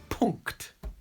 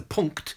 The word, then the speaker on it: Punkt: But it's spelled P-U-N-K, like punk, T. And it was just this combination of NKT at the end that fascinated me. Because we really don't have that in English.